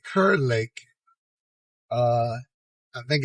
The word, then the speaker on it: Kerr Lake: uh I pronounce it kurur Lake because it's k r r i was told some people pronounce it car Lake but I'm saying Kur Lake uh I think it's